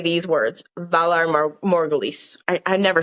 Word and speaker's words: Valar Morghulis: any man from Braavos and say these words, Valar Morghulis. I never say it correctly, but that's basically what it is. Valar Morghulis.